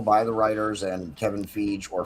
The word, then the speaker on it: Feige: Yes, I agree, and I think that that was intentional by the writers and Kevin Feige or Feige. I've heard it pronounced both ways.